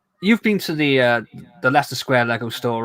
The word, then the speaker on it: Leicester: So if I had a friend and his name was Lester, I'll tell you how he would probably spell it. It'd be LESTER. Well, in all fairness, the Leicester Square like mascot is